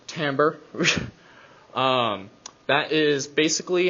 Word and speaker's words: timbre: I know it's spelled like timber. It is not timber. It is timbre.